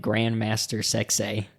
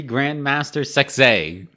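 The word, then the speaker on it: Grand Master Sexay: Scotty too hottie and Grandmaster sexay and you have to say it like that yeah you can't say it any other way it has to be Grand Master success that's all I have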